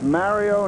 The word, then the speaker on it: Mario: Well, he told me that it's Mario, not Mario, and we won't get into why the broadcast is mispronounced.